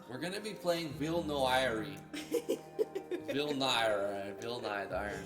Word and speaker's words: Villnoire: Villnoire. Villnoire. Villnoire. Villnoire. Anyway, it looks great. No, I don't think you pronounce the R in this one anyway. Villnoire. Villnoire. We're going to be playing Villnoire.